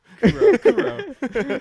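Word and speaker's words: Kuroo: yeah Co it's like it's just a simple name right yeah two syllables C cuckoo Kuro okay anyway let me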